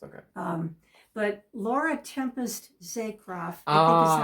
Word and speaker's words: Laura Tempest Zakroff: but Laura Tempest Zakroff, I think is how it's pronounced. Laura Tempest Zakroff, yes.